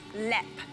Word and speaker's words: Leap: castle in Europe, and it's called Lep. But it's spelled leap.